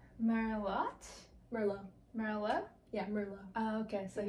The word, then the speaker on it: Merlot: Yeah, Merlot. Oh, okay, so yeah. you don't pronounce the T.